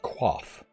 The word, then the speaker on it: coif: It's pronounced coif. It's pronounced quaff. I feel stupid for not knowing it.